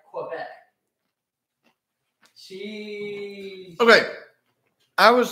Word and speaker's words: Quebec: In French, you pronounce the U, but in English, it said like Quebec.